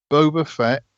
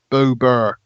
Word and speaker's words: Boba Fett: um eggy buggies ngl pronounce it boba fett boba fett not boober boba fett thank you this is